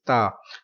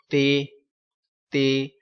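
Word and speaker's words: ت: Next letter is Ta. So some people pronounce this letter Te, Te. So this is Urdu accent. Don't pronounce in Urdu accent. We will read in Arabic.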